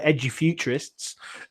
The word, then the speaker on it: Edufuturists: out is a bit hard to pronounce for lots of people um even we struggle to say it's called edgy futurists but it's about the